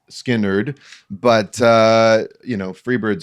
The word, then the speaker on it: Skynyrd: Uh, the album is pronounced Skinnard, but uh, you know, Freeird's on here.